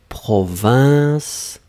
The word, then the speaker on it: province: Vous savez la proximité entre province que nous avons ici et Provence. La seule différence c'est dans la nasale. Donc province, la version que nous avons ici, I-N.